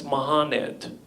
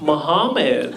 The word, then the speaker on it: Mohanad: And I was like, oh, it's Mohanad. To which he replied, huh, interesting. You know, actually here in the States, it's pronounced Muhammad.